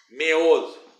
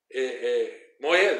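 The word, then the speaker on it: מועד: Meod, moed, desculpe, não é meod. Meod é muito, né?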